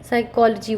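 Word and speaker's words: psychology: एस यहाँ पे यूज़ हुआ है तो स का साउंड से पी साइलेंट होकर के साइकोलॉजी वर्ड बना है.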